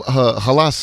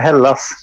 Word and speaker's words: Hällas: band uh yeah uh casper from halas everybody is that how you pronounce it um not really it's a hell loss that you can you